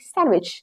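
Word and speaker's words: sandwich: क्योंकि यहाँ पे डी साइलेंट होता है और इसको हम कहते हैं सैंडविच।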